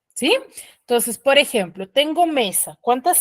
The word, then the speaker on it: mesa: Entonces, por ejemplo, tengo mesa. ¿Cuántas sílabas tiene mesa?